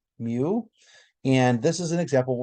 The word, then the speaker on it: mu: between an m and a u and it's pronounced mu so if you're curious to know this is pronounced mu and this is an example we call population